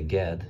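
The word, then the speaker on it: גד: So the name God, not God as in God Almighty, but God, we would say Gad, maybe in English, but in Hebrew, God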